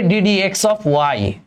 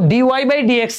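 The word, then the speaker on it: d/dx (y): এটার উচ্চারণ হবে ডিডিএক্স অফ ওয়াই। এটার উচ্চারণটা কি হবে? এটার উচ্চারণ হবে ডিডিএক্স, ডিডিএক্স অফ ওয়াই। মানে উচ্চারণ কিন্তু ডিওয়াই বাই ডিএক্স না, ডিওয়াই বাই ডিএক্স না, ডিডিএক্স অফ ওয়াই।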